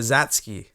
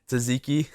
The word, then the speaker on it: Tzatziki: And the Zatsky. That's what? Tzatziki. Oh. Yeah. Zatsky? Yeah. The T is silent.